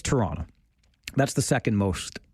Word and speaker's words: Toronto: I like to call it Toronto, but we know when you're not from here, when you are very emphatic about the T's. Toronto, right? It's Toronto.